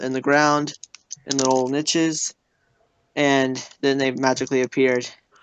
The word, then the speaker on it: niche: the ground in little niches, and then they magically appeared. It's pronounced niche. Niche. Nosh niche.